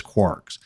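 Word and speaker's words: kwargs: then two asterisks and kwrs which is commonly pronounced as quarks I'm not going to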